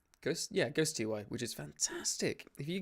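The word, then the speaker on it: Ghostty: How do you pronounce it? Ghost TY? Ghost TY, which is fantastic.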